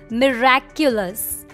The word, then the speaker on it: miraculous: How do you pronounce this basic word? Miracles? No. The right way to say this word is miraculous.